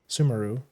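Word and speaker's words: Sumeru: Yeah, Sumemeru is the canon way. But when it first came out, the community was split.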